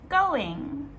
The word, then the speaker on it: going: Number two, how's it going? Again, this is another very informal phrase that we can use. And when native speakers say this quickly, we actually do not pronounce the last G.